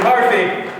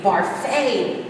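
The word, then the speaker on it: Barfée: say good Mr barfy it's Bara Mr barfy has a rare you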